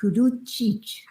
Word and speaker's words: Kuduchich: I also want to go back and retrace my steps and pronounce Sarah's last name right. It is Kuduchich.